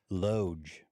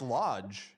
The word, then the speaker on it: loge: Loge. No, it's pronounced Loge. He's right. Yeah, Dan, what the fuck? Wait, really? Loge? Yeah, it's Loge. Yeah. Oh, I stand correct. I thought it was lodge.